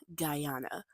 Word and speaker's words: Guyana: Okay, it's pronounced as Guyana.